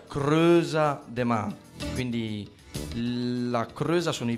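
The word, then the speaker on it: Crêuza de mä: Il titolo, come dicevo, è in dialetto genovese, si legge e si pronuncia Creusa de Ma, quindi La Creusa sono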